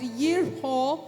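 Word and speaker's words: יריחו: In Hebrew, Jericho is pronounced or called out as yerho, which means a good fragrance or fragrant.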